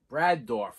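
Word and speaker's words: Brad Dourif: Brad Dorff. I'm not even going to look it up. I always try to confirm. But, yeah. George C. Scott. Brad Dorff.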